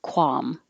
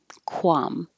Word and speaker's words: qualm: arboretum arboretum this one you can say without the l just don't even try to make an l just qualm qualm or you can use a dark l which means instead of